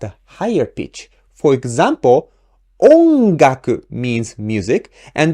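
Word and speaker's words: 音楽: For example, ongaku means music, and this word ongaku has the accent on the first mora o. So we pronounce O at a higher pitch. Ongaku, ongaku.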